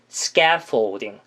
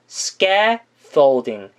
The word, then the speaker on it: scaffolding: 뭐라고 발음하냐면 scaffolding. ske에다 강세를 주시면서 scaffolding 해주시면 완벽한 발음하실 수 있습니다.